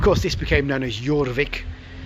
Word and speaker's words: Jorvik: this became known as jorvik pronounced for a y spelt with a j the viking capital of